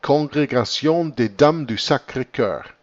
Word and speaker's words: Congrégation des Dames du Sacré-Cœur: The most famous and active was the Congregation des Dames, that's French, so I have to read this in a French pronunciation, Congrégation des Dames du Sacré-Cœur, means the Congregation of the Ladies of the Holy Heart.